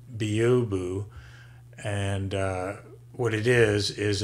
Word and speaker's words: byobu: downloaded or I installed with synaptic it is pronounced Bo boo and what it is is a advanced command